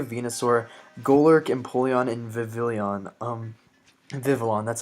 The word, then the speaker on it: Vivillon: Vivillon, that's how you pronounce it.